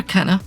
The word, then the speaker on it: Kena: just need to say I think her name's actually pronounced Cana Keener but if I don't call her Kenna I'll have to consciously